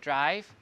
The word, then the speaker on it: drive: now you understand why in modern English, D-R-I-V-E, why I is pronounced I, and why E has no sound, right?